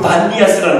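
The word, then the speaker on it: Banias: 판신이라고 하는데 그 반디아스라는 데가 있습니다. 성경에는 가이샤라고 있고 가보신 분 계세요? 네, 한번 가보세요. 거기가 그냥 판신전이에요. 이게. 근데 아랍 발음으로 피 발음이 없어가지고 B가 된 거예요.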